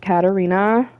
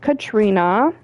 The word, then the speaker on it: Katarina: Um, for those who don't know, my name is Katarina, not Katrina.